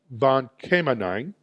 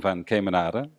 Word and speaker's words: van Kemenade: It's actually van Kemenade. It's a typical Dutch name, and for Anglos, very difficult to pronounce, right?